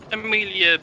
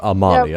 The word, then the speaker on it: Amalia: Who's Amelia? Have I got the name wrong? Yep. Are you referring to Amalia? Amalia, yeah.